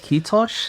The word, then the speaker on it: kiitos: I was taught you basically say mosquitoes with a soft ending and then lose the mos, and that's how you say it.